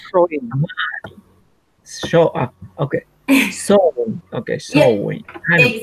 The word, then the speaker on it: Samhain: comes from the ancient Celtic festival of Sama, Samhain Showing. show. Okay, sowing. Okay, Yeah, sowing. Kind of gathering. exactly. Okay. Yeah, I every time I look at this word, I feel like I should say Samhain, but it's not.